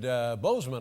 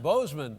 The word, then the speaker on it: Boozman: Voted Boozman, I think, is the pronunciation.